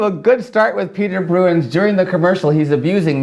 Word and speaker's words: Bruijns: So I believe his name is pronounced Bruijns. It's Bruijns.